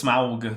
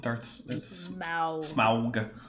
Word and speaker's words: Smaug: You gotta say it's Smaug, because that's how Tolkien wanted it to be pronounced. Smaug.